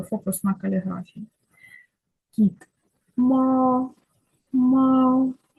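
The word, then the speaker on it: 猫: на каліграфії кіт ма мау мау перший тон тобто перший тон рі він ріно вимовляється мау коли Ви вчитесь ви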